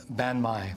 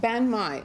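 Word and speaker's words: bánh mì: And then the final one is how do you pronounce it? A turkey? Banh mi. Banh mi.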